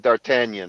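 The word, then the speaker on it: D'Artagnan: By the way, with all due respect to Kurt, you guys pronounce that Dartanion, right?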